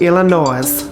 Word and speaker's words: Illinois: brownie was invented right here in good old illinois it's pronounced illinois by the way not illinois the highly acclaimed